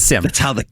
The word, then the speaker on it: SIEM: will call a SIEM, although it looks like it should be pronounced SIEM. But it's SIEM, but it's SIM. That's how the cool kids pronounce it. All the cool kids pronounce it SIM.